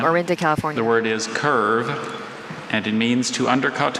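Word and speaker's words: kirve: The word is curve, and it means to undercut coal in a mine.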